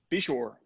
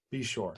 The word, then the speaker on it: Beshore: Brent how do you say your last name be sure be sure alright cool I've been trying to get you